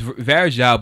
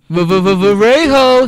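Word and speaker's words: Varejão: got a young ver no it's Veria but they used to um pronounce his name V Vero shout out to Alex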